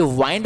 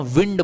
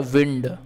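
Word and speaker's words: wind: उच्चारण करते हैं साथियों ये वाइंड नहीं बोलते हैं इसको विंड बोलते हैं ठीक है इसको हम क्या बोलते हैं इसको हम बोलते हैं विंड क्लियर है लेकिन क्या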